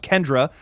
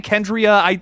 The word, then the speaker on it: Kendra: It's pronounced Kendra. Did I say Kendria?